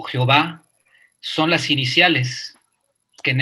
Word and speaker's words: Jehová: Es Yod, Jebaue, que pronunciamos Jehová, o Yahvé también, ¿no?